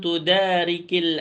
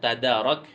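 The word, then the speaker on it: تُدَارِكِ: pelajari hari ini, walam tudarikil ayyamal madiyah, itu bacanya tudariki, bukan tadarak yang di dalam PDF itu ada kesalahan. Apabila engkau tidak beramal pada hari ini, walam tudarik.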